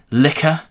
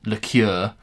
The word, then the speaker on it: liquor: henstone Distillery old dog corn liquor um item when I did my video of this I said liqueur on the video and my god did I get handed in the comments for that um pronunciation